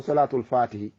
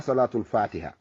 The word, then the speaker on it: Salatul Fatihi: himo mari inde ko salatul fatihi. Mi wiima hay prononciation on no mankirma, wona salatul fatiha. Si a wi salatul fatiha aɗa wi julde e dow fatiha. Ko salatul fatihi, salatul fatihi.